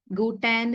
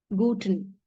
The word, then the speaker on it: guten: go so here you we have e here but we don't say it is as guten gutan is a wrong pronunciation so we always not stress on E it is kept short guten guten Morgan guten Morgan